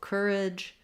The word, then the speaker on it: courage: We do say that j sound typically, we spell that with letter J at the start of words, and we spell it with GE or DGE at the ends of words.